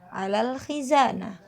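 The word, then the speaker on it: على الخزانة: Alal khizanah, ala al-khizanah, bacanya alal khizanah.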